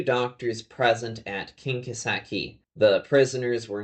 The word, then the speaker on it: Kinkaseki: Kinkaseki is just the Japanese pronunciation of these characters.